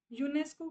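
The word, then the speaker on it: UNESCO: डी एस नहीं बोलते यूनेस्को को आप पूरा एज अ वर्ड प्रोनाउंस करते हो उसके लेटर्स को सेपरेटली प्रोनाउंस नहीं करते सो दिस इज़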